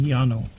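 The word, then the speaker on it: Llano: you or different please butt in and tell Yano or loo or it's l l n o Texas it would be Yano yeah Yano I was gonna say the dou L has always been pronounced as a y as far as I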